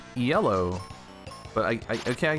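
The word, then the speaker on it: Iello: um one game from i guess it's called yellow but it's spelled i-e-l-l-o we would call it yellow but i i okay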